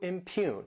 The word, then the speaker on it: impugn: Next is the verb impugn, to impugn. This word has 2 syllables and the stress is on that second syllable, impugn.